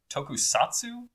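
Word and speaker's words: tokusatsu: And I apologize if I am pronouncing it wrong, but it's tokusatu.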